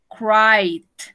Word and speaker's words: cried: Cried. Cried. No pronunció la E.